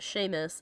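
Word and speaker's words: Seamus: her actual name is shame spell spelled seus pronounced Sheamus spelled cobon pronounced shivon yeah true that the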